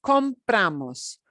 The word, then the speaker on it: compramos: right uh comprar nosotros compramos compramos compramos and you're going to notice that we generally in most cases punch the second to last syllable more uso necesita compramos serial